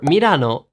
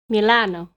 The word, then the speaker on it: Milan: For Milano, in English, you say Milan. Milan. Milano. Milano. Nope. Milan. Yeah, Milan.